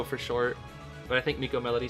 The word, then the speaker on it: MK Melody: How do you guys pronounce MK Melody? Oh, uh, it's um, his full name is Miko Melody. That's how you pronounce it.